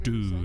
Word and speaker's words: Odoo: Millions of open source developers, partners, Odoo is how they're pronouncing it.